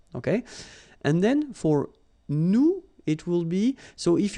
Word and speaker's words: nous: if you remember correctly, so final S is not pronounced here. Okay, and then this O-N, so it's a nasal and it goes in your nose and it goes like on. All right, so you don't hear any N, so it's really on.